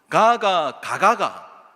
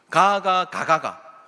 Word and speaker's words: 가가: 가가 이거예요. 네, 이게 이제 긴 발음과 짧은 발음으로 구분되는데 그 아이가 가시이냐라고 하는 질문이죠. 가가.